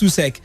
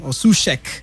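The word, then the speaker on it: Souček: joining on loan thomas susek uh from uh sushek as he's pronounced rather from slavia praga on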